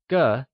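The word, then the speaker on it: 个: The next measure word we will learn is ge Used for people as well as other general things ge , spoken with a neutral tone, is one of the most important measure words in Mandarin!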